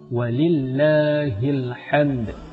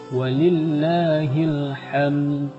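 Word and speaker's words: وَلِلَّهِ الْحَمْدُ: milik Allahlah segala puji ada sebagian orang membacanya dengan walillahilhamd menggunakan Raung maka artinya ialah dan milik Allah lah segala panas ataupun demo dan ada juga yang membacanya dengan menggantikan harakat huruf H dengan ha Walillah hilham nah ini artinya lebih hancur lagi dan milik Allahlah segala kecemasan naudzubillahimindzalik Semoga kita terhindar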